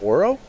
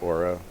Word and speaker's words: Uro: Euro, I believe it's pronounced, like the sandwich.